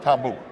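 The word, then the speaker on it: tabu: yeah okay okay but in Fiji the language goes where it's spelled ta bu phonetic was pronounced taboo okay and that led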